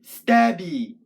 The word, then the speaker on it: Stabby: So in the word stabby, the emphasis is on stab.